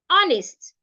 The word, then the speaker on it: honest: when you're pronouncing it air honest in these three words the h letter there is silent also when you have